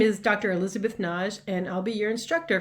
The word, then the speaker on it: Nagy: most people pronounce as nagi but it's a hungarian name and i go with the single syllable pronunciation of naj kind of rhymes with taj mahal another thing about my